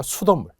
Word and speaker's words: 수돗물: 수돗물 한번 해 볼까요? 수돗물. 수돗물은 수돗물. 이렇게 발음이 니은으로 나겠죠?